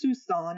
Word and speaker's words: Siouxon: This is our trip down the Siouxson Trail, and it's pronounced Siouxson. It rhymes with Tucson, and it's basically a river that we followed um, down by Mount Adams and Mount St.